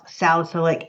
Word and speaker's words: salicylic: the St acid okay I'm from the south and I want to say salicylic acid so bad but guess what it's not a salicylic so I had to think of something that would help me with that so think of your friend Sally or a Sally same I think a lady named Sally that's going to help you pronounce salicylic acid to pronounce it so